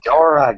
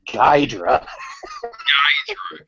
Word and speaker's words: Ghidorah: They bought the rights from Toho to use those Ghidorah, god damn it! It's not Ghidra. because he's like a Hydra.